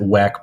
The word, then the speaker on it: WEC: of the season ah they they pronounce it wack but not Elms or